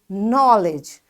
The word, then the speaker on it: knowledge: And knowledge. This K is silent.